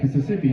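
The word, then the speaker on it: Misisipi: It's a M-I-S-I-S-I-P-I, which some would say it's pronounced Mississippi, including me.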